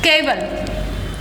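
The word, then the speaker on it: cabal: कर रहा है, लेकिन जब वो अपने सेंटेंसेस को कबाल बोल रहा है, ये कबाल होता है, कबाल बोल रहा है और इसकी स्पेलिंग सेम वही है, तो आपने याद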